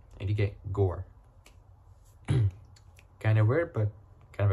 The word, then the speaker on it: Gore: the G so it it's like saying tour but just remove the T from tour and put G and you get Gore kind of weird but